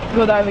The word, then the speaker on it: Godiva: Godiva, yeah.